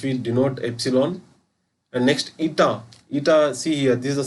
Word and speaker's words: eta: Many of them they pronounce this as new, but that is wrong. Actually new, here I have given new, it looks like v. So this is not new, this is a eta.